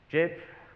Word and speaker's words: Geb: It's got it's on the site called Jebish, so it's not Geb or anything. They say the guys who created it, they call it Jeb, like more.